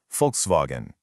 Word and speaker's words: Volkswagen: So, going back to our example, in folkswagen, it's the W that makes that V sound. Folks vogen.